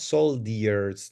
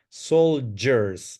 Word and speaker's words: soldiers: easy word to pronounce this is not solders no soldiers soldiers this is how you pronounce it uh number seven please